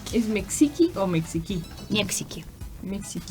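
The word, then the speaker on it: Мексика: The stress is on the first one, but at the end there is like also E. Mexico. There is Mexico. Like the E is more like. You pronounce it, but like very, very light. Yeah, it's almost unheardable. Yeah. Mexico. But you still have to pronounce it.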